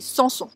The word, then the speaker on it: Samson: brilleux Malo ou même Samson que l'on prononce aussi sans son alors Paul Aurélien a